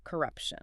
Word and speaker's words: corruption: We see a clear shift from hope to control and finally to outright corruption. Corruption. Let's practice that word stress again. It's on the second syllable, right?